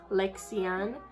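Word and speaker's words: Lexiann: of you don't know my first name is lexian l-e-x-i-a-n-n it does not have an hyphen in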